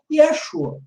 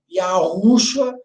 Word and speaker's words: Yeshua: E a pronúncia do nome do Filho de Deus, lá no aramaico antigo, seria Yeshua. Não Yahushua, Yehoshua.